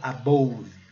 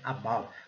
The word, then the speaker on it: above: Se a gente seguir pela regra, seria above. Muita gente comete esse erro, mas não é. É above. O E continua sendo... Gente, o E no final da palavra, 99% das vezes, ele não vai ser pronunciado. Aqui, a transcrição fonética nos ajuda muito, né? Temos aqui o som do schwa, que é um som mais leve, né? Above. E aqui, a palavra, a sílaba final. Above. Observando aqui que a sílaba forte é a segunda, né?